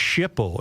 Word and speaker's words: SHPO: State Historic Preservation Office or SHPO pronounced Shipo in government acronym alphabet soup lingo.